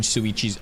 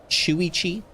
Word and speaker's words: Shuichi: I I don't even like pronouncing Suichi's uh Chui's name because it's like Shuichi. I used to call him Sui but it's not Suichi. It's Shuichi something like that.